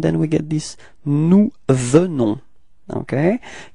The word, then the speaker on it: venons: we get this nous venons, okay? Keep in mind that E is pronounced like E, so it's ve, ve, ve, venons. Final S is not pronounced, okay?